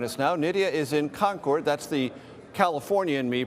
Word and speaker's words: Concord: Nidia is in Concord. That's the California in me pronunciation. The proper pronunciation, I've been told many times here, is Concord.